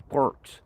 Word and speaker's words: quark: It's not quartz, it's quarks.